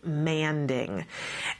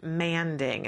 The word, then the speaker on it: manding: the show and that you'll hear experts say it's manding and the first time that I heard somebody say this I was 100% sure that they were saying it wrong that it was some